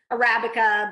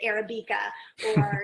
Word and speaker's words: Arabica: us like you know the coffee shop is it seems like it should be pronounced Arabica but everybody in Shaker pronounces it Arabica you know you don't